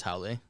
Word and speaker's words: haole: The Hawaiian word for foreigner is haole. What's that mean? So if you break it up by like phonetically, people, it's kind of like gone around the wheel, but it's HA and then apostrophe OLE, which means without breath in Hawaiian.